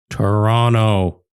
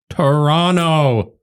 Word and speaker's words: Toronto: his to rent out Toronto Toronto listen Okay I I pronounce the T okay let me start